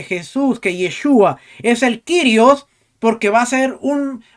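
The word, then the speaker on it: κύριος: el kirios nosotros decíamos curios pero ahora rico nos ha corregido que él se encontró una persona en Grecia que le dijo que la pronunciación correcta No es curios sino kirios Entonces al cesta se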